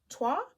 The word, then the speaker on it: Toit: Next we have Un Jardin sur le Toit. I'm gonna say Toit because I think in French they don't pronounce the last letter.